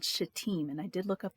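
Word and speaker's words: Shittim: of the jordan river in a place called shateem and i did look up the pronunciation um i'm glad i did because i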